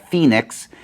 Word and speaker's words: Fenix: of this thing so this is the phoenix f-e-n-i-x is how they spell that uh pd like police